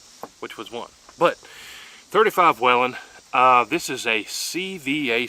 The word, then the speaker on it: Whelen: and watch videos on call it whalen i'm going to call it wellin because that's how it reads whalin that's like waylon jennings and that's spelled completely different but anyways i'm out